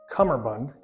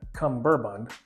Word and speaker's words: cummerbund: Fun fact, it's pronounced Cummerbund, not Cumberbund. So drop that middle B and don't be an idiot.